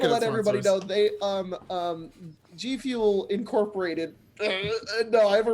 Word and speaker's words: G-Fuel: G-Fuel. Sorry, that's how it's pronounced.